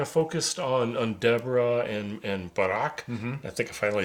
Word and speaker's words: Barak: So last week we kind of focused on Deborah and Barak.